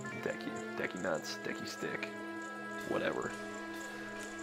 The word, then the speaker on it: Deku: being turned into the Deku scrub. Also, I'm gonna put this out there. I pronounce it Deku, like hard E, Deku, not Deku or Deku.